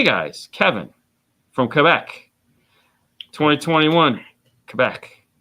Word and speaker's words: Quebec: Quebec. That's how you say it. Quebec. Yeah, it's like Quebec. Quebec. No, it's it's French, bro.